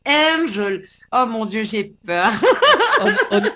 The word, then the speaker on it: Angel: Alors pour moi, quand midi à Zot dit Angel, Zot dit Angèle, etc. Non, c'est Angel.